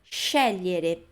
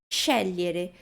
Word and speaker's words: scegliere: GLI a gente lê como se fosse LHI.